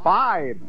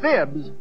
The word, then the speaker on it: Phibes: doctor and you know he changed the pronunciation of his last name five it was originally fibs but when he was known as Dr Phibbs his patients didn't believe him see hey you're good